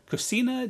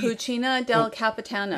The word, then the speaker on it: Cucina del Capitano: to take a little look in the uh cocina d cucina del capitano yes i need correct pronunciation i believe that's correct very good to